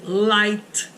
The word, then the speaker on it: light: Uma delas é quando o I for seguido pelo GH. Esse GH, normalmente, ele é mudo, tá? Então, por exemplo, Nesse caso, terá o som de I. Vocês lembram de light, luz, olha lá, light. O GH você não fala.